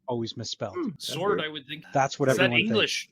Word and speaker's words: Sword: SW oh s the W is silent I guess SW I have 45 years I've had to spell it for every it's always mispronounced always misspelled sword I would think that's